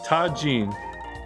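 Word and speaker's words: Tajín: I don't know how to pronounce It's one of life's greatest Tajin. mysteries. it. It's Tajin.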